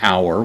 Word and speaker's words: hour: This is in the accusative case, the feminine noun for hour. We get the English word hour straight from this. Of course, we have a silent H at the beginning.